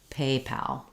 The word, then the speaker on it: PayPal: the pope people but in paypal we have a little length and a clear vowel on pal however you don't want paypal not secondary stress but first stress uh first syllable stress paypal so um okay and